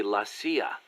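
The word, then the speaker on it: La CIA: around here they say lacia instead of CIA huh nothing strange about it that's how it's pronounced when you read it in Spanish it has the feminine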